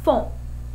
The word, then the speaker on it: font: Equal or make, you're going to use the word font. F-O-N-T, pronounced font.